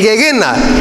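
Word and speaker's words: Gehena: El Gegena. Esa es la palabra de donde se traduce infierno, las traducciones castellanas. Gegena. Gegena. Con doble E y un acento en una E, en la primera E.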